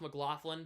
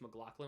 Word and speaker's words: McLaughlin: And it's pronounced McLaughlin, but some people say it's McLaughlin, which is fine.